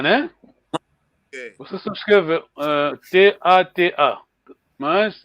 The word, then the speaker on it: Tata: Você só escreve T-A-T-A. Mas, lendo, lembra-se que é uma vogal longa.